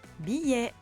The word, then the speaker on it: billet: Billet, je prononce est.